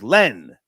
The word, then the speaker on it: Len: No, sir. His name was not Lynn. It was Len. Len. No, it was L-E-N. Yes. L-E-N. Len. Yes. Sir. Len. Not Lynn.